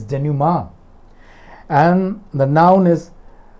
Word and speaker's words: denouement: that it is meant it's not denument it's genuma and the noun is